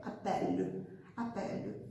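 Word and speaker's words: appellent: A terceira pessoa do plural se escreve apelente. Apelente, com a NT no final. E a gente só fala até o E, appelle. O NT no final, né? Vocês simplesmente anulam.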